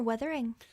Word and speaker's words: Wuthering: Wuthering, sorry. It's Wuthering, isn't it? Wuthering or withering? Well, it's spelled Wuthering. But I think you can say withering.